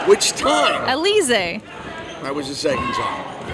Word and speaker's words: Alize: Alize.